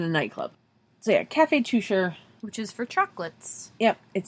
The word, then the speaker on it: Teuscher: Cafe Touche. Nope. It's pronounced Toucher. Seriously? It's from Switzerland. The fuck? Instead of Germany. If it was from Germany, it would be Teuscher. But it is from Switzerland. It is pronounced Toucher.